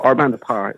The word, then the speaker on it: Our Bande Apart: is actually i mean it's french so it's it's pronounced like you forget that you know ignore the t the french have a